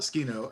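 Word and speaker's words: Tsukino: an calls her sukino and clearly pronounces it sukino three syllables not skino as we have been told it is properly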